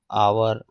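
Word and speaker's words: hour: कहीं-कहीं एच में भी स्वर की ध्वनि होती है। जैसे आवर अर्थात यहां पर एच साइलेंट होता है।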